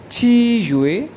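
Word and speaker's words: 七月: इसी तरह 7वां मंथ है यानी जुलाई को चाइनीज़ में कहते हैं छी युए।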